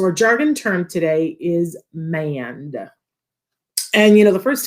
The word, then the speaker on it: mand: want my child to man uh but it's manned with a d on the end m-a-n-d uh